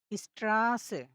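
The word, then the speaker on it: Straße: সময় একটু দীর্ঘায়িত করে উচ্চারণ করতে হবে যেমন স্ট্রাসে স্ট্রাসে এরকম করে উচ্চারণ করতে হবে স্ট্রাসে মানে হচ্ছে রাস্তা ওকে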